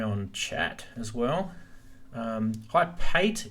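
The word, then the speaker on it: Payt: Hi, Pate is P-A-Y-T. Hopefully you spell Pate is the way I pronounce it as well.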